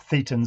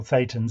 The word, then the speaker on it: thetans: They're thetans or thetans, if you prefer his pronunciation.